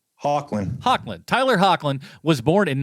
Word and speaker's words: Hoechlin: But Tyler is Hoechlin, how do we pronounce his last name? Hoechlin.